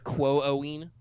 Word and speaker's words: Quoin: I think it would be Quo-Owen. Whoa. Okay. It's not like long O like ooh. It's like long O like two O sound.